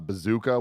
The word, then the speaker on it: bzkA: athlete we had uh bazooka which is a the best name I've learned last night because it's spelled bzka what breaks my heart